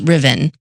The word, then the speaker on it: Ruthven: It's actually spelled Ruthven, Ruthven, Ruthven, but it's pronounced Ruthven.